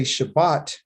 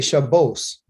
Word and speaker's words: Shabbat: We say Shabbat. They say, why's my pen not working? Shabbat. They say Shabbos.